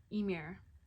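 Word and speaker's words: Ymir: m iir which is the chaos before creation pronounced emir old norse whoa interesting so you might have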